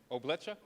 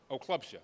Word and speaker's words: Oklubsha: But how do you say your last name? Oblecha? Oklubsha.